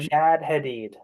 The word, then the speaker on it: Shad Hadid: know you for the shadid series if I'm pronouncing that correctly I hope I am Shad Hadid Shad Hadid yes much much less uh Arabic sounding than the book actually is which is very Arab